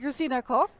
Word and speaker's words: Christina Koch: Is that a correct pronunciation? Thank you. And Christina Koch, is that correct?